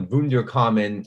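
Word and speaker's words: Wunderkammer: Any 18th century like naturalist or philosopher worth their salt would have had this they called the vunder common for the for the German pronunciation.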